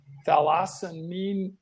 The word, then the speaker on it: thalassemia: marrow transplant for, this is what I might mispronounce, major thalassemia patients.